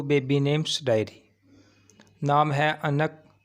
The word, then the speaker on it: آنق: الرحیم۔ Welcome to baby names diary. نام ہے انک۔ انک نام کے انگلش میں سپیلنگ ہے ANQ انک۔ انک نام کا اردو